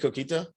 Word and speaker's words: coquito: Did your family make coquito? Oh yeah, actually my mom does. Did I say it right? Man, you sounded fire. Coquito.